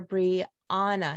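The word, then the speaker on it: Bree-Anna: to pronounce correctly but I named my oldest daughter Bree Anna not Brianna Brianna and you know we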